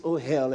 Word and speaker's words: ohel: The word congregation is ohel, and we're a hellish mess, isn't it? You spell it that way, O-H-E-L. Ohel, ohel, ohel.